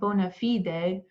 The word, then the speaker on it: bona fide: the lowest uh uh bonafide um bid and by bona fide bid i'm just pronouncing it the latin way um not because i'm